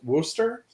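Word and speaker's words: Worcester: that out there also apparently it's wooster uh which is great because i could never pronounce things like that and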